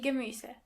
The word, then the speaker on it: Gemüse: Vegetables in general means die Gemüse. Die Gemüse. Try to practice the pronunciation of this word a couple of times to make sure you are pronouncing the umlaut correctly.